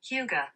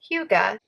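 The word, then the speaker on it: hygge: speakers probably say it is actually pronounced huga huga uh so holiday hyuga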